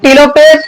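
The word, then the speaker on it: telophase: चार नंबर होरहा आपका टेलो फेस ठीक है आइए टेला फेस बोलते टेलो नहीं बोलते हैं spelling T इ एल ए प एच ए एस ठीक है ना लो नहीं होता ला होता है ठीक है ला फस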